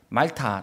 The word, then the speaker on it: 몰타: 이름은 몰타 라는 섬입니다 몰타는 영국식 발음이 고 말타 라고도 하죠 임 앓다가 그 원주민들의